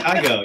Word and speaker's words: Kygo: Oh yeah, Kygo.